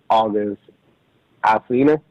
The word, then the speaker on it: August Alsina: And during that break, she was trying to, Jada Pinkett Smith was trying to, help out August Alsina.